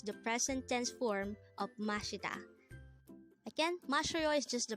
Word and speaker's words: 마시다: mashita mashita the word mashita is a verb which